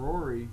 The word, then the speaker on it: Roary: and just have fun we named him Rory because it's spelled like roar like a dinosaur would Roar r o a